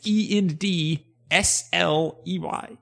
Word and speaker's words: Endsley: she is Abigail _ Inslee, which is END Sley.